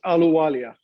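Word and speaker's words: Ahluwalia: But we're joined by candidate for Lieutenant Governor Puneet Alawaja, and I assume you regularly get asked what the appropriate pronunciation of that is. It's Aluwalia, Mark.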